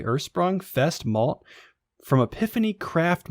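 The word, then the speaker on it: Ursprung: a logger brewed with hopefully i'm pronouncing this right ersprung u-r-s-p-r-u-n-g ersprung fest malt from epiphany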